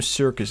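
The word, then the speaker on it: Serkis: So, his name circus. It sounds weird. It's spelled very differently from the actual word circus, but s circus. I don't know. It sounds the same to me.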